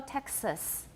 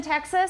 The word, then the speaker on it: Texas: And then most accents take the vowel in the second syllable of taxis, make it different from that in Texas. They're extremely different for me. Everybody, 很多计程车 taxis. Okay, 德州, Texas. What vowel do I have in the second syllable of Texas? It's a schwa, definitely a schwa.